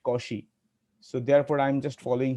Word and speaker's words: Cauchy: cauchy's mean value theorem it is not a cauchy some although some people like to call it as kochi even i do not know what is its actual pronunciation but my teacher used to say it causey so therefore i'm just